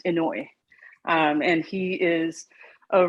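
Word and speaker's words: Inoue: asao in a way his last name is i n o u e inouye or pronounced inoy um and he is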